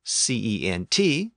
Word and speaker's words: cent: So in the case of the French word for hundred, C-E-N-T, pronounced cent, it became anglicized to cent, and it appears in